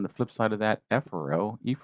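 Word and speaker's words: efferent: Afro, I'm going to just pronounce it with the long vowel, aphero, which means toward the center. Ephero or ephero refers to away from the center. Again, I'm just pronouncing the long vowels to make sure you understand the difference in the spelling.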